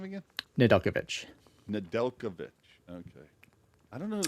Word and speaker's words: Nedeljkovic: A Or 5-0 How do you pronounce his name again? Nedeljkovic. Nedeljkovic. Okay. I don't know who the hell said Nedeljevic, but I've just hung on to it with all that it's okay.